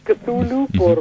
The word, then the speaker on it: Cthulhu: Elvio Gandolfo dijo Cthulhu, por ejemplo, y yo también decía Cthulhu, pero Cthulhu porque es un poco la pronunciación consagrada en lengua inglesa.